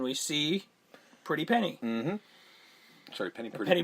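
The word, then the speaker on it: Penny Priddy: Sorry, Penny Pretty. Penny Pretty. And it's spelled P-R-I-D-D-Y, by the way.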